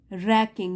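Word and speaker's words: wracking: exciting and nerve रैकिंग रैकिंग यहां W silent है और जो यह अपॉर्चुनिटी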